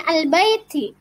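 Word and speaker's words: الْبَيْت: Lanjut al-bait, tulisannya al-baiti. Tetapi karena waqaf dibaca al-bait atau 4 harokat.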